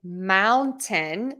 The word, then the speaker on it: mountain: a couple of options you can say Mountain just like a dead Mountain Mountain think of it as Mao and Tin Mountain I do hear some